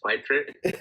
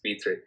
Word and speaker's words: Pitre: used to think it was Pitre, but now I'm learning it's Peter.